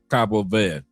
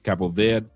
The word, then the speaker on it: Cabo Verde: Cabo Verde or Cabo V with no D, no E. Cabo V or Capo V.